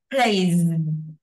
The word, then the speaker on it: plays: Chạm răng, lưỡi chạm răng. Plays. Plays. À, đọc nhiều lên cho nó quen nha.